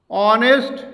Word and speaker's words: honest: যেমন and honest man. Here honest, the word honest is used with ace but its pronounced is omitted. Here the word starts with honest and the pronunciation of ace is omitted, so we can use and before it.